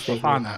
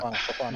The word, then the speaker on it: Fofana: Fofana, his name is Fofana. Fofana. You put O in the beginning, not at the end.